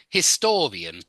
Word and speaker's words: historian: little bit like history historian yeah history historian yeah so history is on the his history but historian again it goes on to the second syllable yeah historian or politics